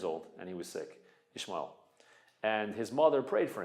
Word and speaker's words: Ishmael: At one point, Hagar and Yishmael. How do you say Hagar in English? Hagar. Hagar? Hagar. Hagar. Hagar. Hagar. And Yishmael would be Ishmael. Sounds funny in English.